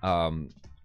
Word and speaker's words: Chani: Chani... Someone said you could say it like Dick Cheney.